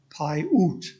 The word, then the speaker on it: Paiute: hear the word pronounced so that's how i learned pai oot a yarrington paiute indian